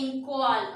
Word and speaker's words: Inkwal: Here NQA is there, but you need to pronounce that as Inkwal.